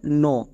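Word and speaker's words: know: এখানে দেখো এখানে কে সাইলেন্ট। এক্ষুনি আমরা নিয়মে শিখলাম যে কে এর পরে যদি এন থাকে আমি এই এন কে দেখে বুঝতে পারব যে এখানে কে সাইলেন্ট। তাহলে কে এর উচ্চারণ এখানে করতে হবে না। সাইলেন্ট মানে উচ্চারণ করা লাগবে না। বোঝা গেল? তাহলে এখানে আমরা কে এর উচ্চারণ করবো না।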